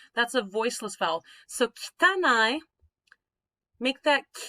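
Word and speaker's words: きたない: All right, kitanai. Kitanai. That E sound, the kitanai, that's what we call a voiceless vowel.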